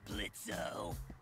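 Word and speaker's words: Blitzø: in it uhhuh sure blitzo the O is silent now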